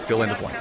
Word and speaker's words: Phil and Blanc: Do you know how to pronounce that? Fill in the blank.